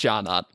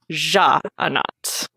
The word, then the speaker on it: Sja-anat: Sja-anat, which is apparently not pronounced Sja-anat.